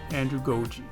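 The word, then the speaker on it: andragogy: adult focusing and learning i said it right the first time andrew goji stay tuned andrew goji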